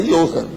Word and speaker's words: Johann: Já era alemão, com pronúncia certa, tinha que falar Johann.